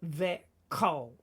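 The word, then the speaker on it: וְכׇל: If we look down here at the note, the Kamatz grammar rule, at least with modern Hebrew, is applied in the ve kol, which makes it a short O sound since it is a closed syllable and more or less the first. So often when it's in the first syllable, it will change the A sound, the kamatz, to an O sound. So we get ve kol.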